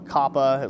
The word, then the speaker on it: COPA: Anyways, it was like a $170 million fine for violating the Child Online Protection Act, or COPA, or Coppa, as some people are pronouncing it.